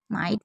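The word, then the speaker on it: might: एक नोट करने वाली बात है कि जिन शब्दों के अंत में जीएसटी होता है उसमें जीएच को साइलेंट रखा जाता है, जैसे नाइट, फाइट, माइट, बहुत सारे हैं।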